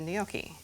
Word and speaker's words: gnocchi: a boil, and we're going to cook the gnocchi. And you're going to see how fast it cooks. I feel like I've been pronouncing it wrong because I say gnocchi, but you say gnocchi.